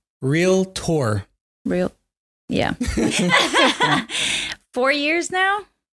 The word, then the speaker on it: realtor: have you been a realator or sorry realator did I say it properly still wrong how do you say real real Tor real yeah four years